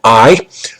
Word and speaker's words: Ay: But he would have ruled under the advice of a man named I, whose name is spelled A-Y, was the charioteer under Akhenaten, the master charioteer, and he was the advisor.